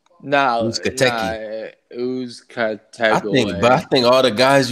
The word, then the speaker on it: Uzcategui: Uzcategui? No, Uzcategui.